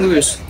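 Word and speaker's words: Luis: Why doesn't Lewis ever help me push these damn bookshelves? Every damn Lewis. Time. You said Lewis, it's Lewis.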